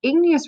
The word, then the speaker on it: igneous: Canyon's out in Arizona another word or another rock we talked about was igneous rock remember it sounds like the word ignite or like a fire and this can help us remember that igneous rocks formed from magma